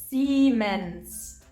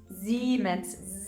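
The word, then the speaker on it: Siemens: after an e the whole thing is being pronounced like a long e e seens and German uh always has soft s's Z and that have more of a buzzing sound so it's not seens it's zens Zs with this knowledge I bet you can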